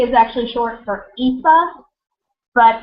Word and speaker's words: Aoife: Because it's like Eva, but with a softer V, Aoife.